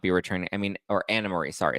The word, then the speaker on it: Anne Marie: I mean, or Anna Marie. Sorry, it's spelled Anne Marie, but it's pronounced Anna Marie because it's German.